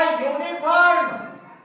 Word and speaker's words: uniform: मैंने, या आ गया, ये स्वर होते हुए भी ए ले लेगा क्योंकि इसका उच्चारण यू की तरह हुआ, या से शुरू हुआ, इसमें स्वर नहीं आया, व्यंजन आया।